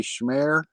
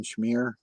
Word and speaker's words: Schmear: on yeah um it's it's actually schmere if you said it in German but as growing up it's always been schmear they've said all kinds um I kind of I kind of changed the pronunciation for a while to Shimmer because I kind of liked it yeah but um ichmere that's what you know I I am the original schmear campaign you know how they